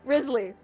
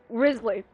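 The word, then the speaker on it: Wriothesley: Worsley Risley that much I had to search up how to pronounce this say five times I'm getting mad I'm getting upset you know what positive I can't ow my knee I can't hold it in Risley no that's not how it's been aims pronounced I refuse to believe that it's Worsley I'm sorry no I can't see that motherfucker's name is pronounced worthy not Risley no I'm sorry but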